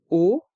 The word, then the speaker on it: aux: Le mot O, A-U-X, se prononce comme la lettre O. Le X est muet.